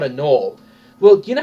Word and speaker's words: gnoll: description, you use the gnoll's description. I pronounce it gnoll so people know how to spell it.